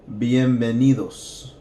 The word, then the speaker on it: bienvenidos: So, bienvenidos.